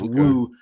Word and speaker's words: Wu: So it's not woo woo, it's woo, W-U, like Wu Tang, which they're expressing their